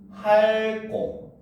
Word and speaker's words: 핥고: 자, 리얼티귿은 대표이 뭐다? 응? 리얼티귿은 리얼입니다. 알겠습니까? 그러니까 얘도 발음을 하면 할고 요렇게 발음이 돼요.